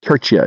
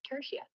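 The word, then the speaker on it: tertia: Churchia. Am I saying it right? Maybe you can correct me. Hey, I think you're going for Tersia, not Tia.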